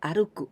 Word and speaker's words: 歩: And this one, here we pronounce ぽ, but this is 歩く, 歩きます, to walk.